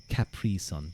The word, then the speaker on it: Capri Sun: They say like Capri. They emphasize the pre son.